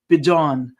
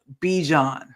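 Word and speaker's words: Bijan: He said his name is pronounced Bjon, not Bejon.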